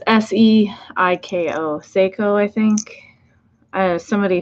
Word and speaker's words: Seiko: Psycho. I think I am forever going to mispronounce that.